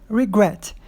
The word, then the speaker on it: regret: Regret. A sílaba forte é justamente a que tem CVC.